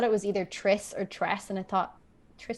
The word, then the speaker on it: Tress: Yeah, you say Tress, right? That's how you pronounce it. I believe so.